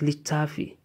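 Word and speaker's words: littafi: Then litafi is pronounced litafi.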